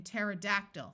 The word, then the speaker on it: pterodactyl: c and in Psalms when a word starts with PT the P will also be silent like in pterodactyl which was a type